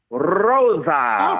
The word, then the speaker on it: Rosa: thing too, Can you roll your R the way that Dave Marquez did when he would announce her on NWA Power? Rosa.